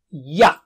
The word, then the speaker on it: يَ: Ya is like English yes.